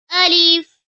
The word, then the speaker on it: alif: kindly read after me alif alif comes from whole mouth to pronounce alif alif this is ba